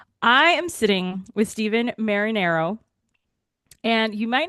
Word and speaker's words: Marinaro: yeah, my name's and thank you for pronouncing my last name properly, Marinaro, a very, very Italian name.